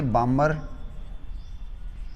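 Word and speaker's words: Balmer: L से बन गई लाइमैन, B से बामर, इसमें L साइलेंट है। ठीक है, बालमर नहीं बोलना है इसको।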